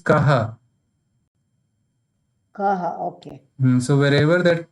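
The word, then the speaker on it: कः: Sir, this ko arthavan, it is ko, so you pronounce it as ka arthavan, is it? Ka arthavan. No, not ka, it is kaha.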